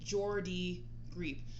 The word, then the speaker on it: Geordie Greep: It is Geordie Greep. The name Geordie is pronounced Geordie, similar to gourd with an E sound, while Greep is pronounced Greep. Rhyming with words like deep and sleep.